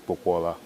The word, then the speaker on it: Popoola: Popoola, it's spelled Popoola. Actually pronounced Popoola, but I don't impose that on anyone because it's harder to pronounce.